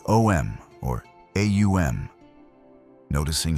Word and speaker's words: Om: The mantra Om isn't simply 3 letters, but a precise sequence of sounds, Aum, that gradually closes the vocal apparatus, representing the cycle of creation, maintenance, and dissolution.